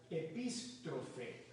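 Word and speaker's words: ἐπιστροφή: La palabra conversión en el Nuevo Testamento viene de un vocablo griego que se pronuncia epístrofe.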